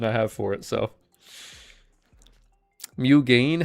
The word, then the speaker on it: Mugen: Mugen? How do you get gain out of G-E-N? Is that really the pronunciation?